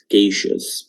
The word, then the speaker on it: efficacious: efficacious, হ্যাঁ, সি এর উচ্চারণ কেই হবে, কেইশাস।